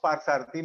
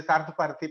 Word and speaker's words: Parthasarathi: When I was in North, so I was, because North people, they are not able to pronounce Parthasarathi. Many people say Sarthaparthi, Parthasarathi.